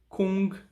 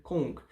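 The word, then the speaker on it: 功: Então, primeiramente, Kung, tá? A gente vai ter Kong. Na verdade, Kong, né? A pronúncia puxa mais pro O do que pro U, né?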